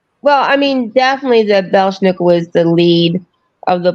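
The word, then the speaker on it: Belsnickel: Is it pronounced Bersnickel? Is that the right way to pronounce it? Are you talking about the Belschnickel?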